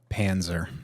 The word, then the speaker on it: Panzer: Panzer. Spell it for me. P A N Ze R. And it is. We just covered. It's German.